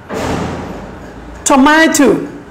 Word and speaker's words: tomato: So we stress on ma.